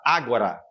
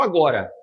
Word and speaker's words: ágora: uma corretora chamada Ágora Ágora investimentos com acento agudo no ar Ágora esse mercado Ágora é a palavra grega que diz isso aqui não é se escreve igual agora só que com acento agudo no a aí fica Ágora tá então o Paulo disputava